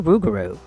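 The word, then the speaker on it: rougarou: the lugaro with them over time the unique pis of French in the Acadiana region changed the pronunciation to rugaru and I suppose I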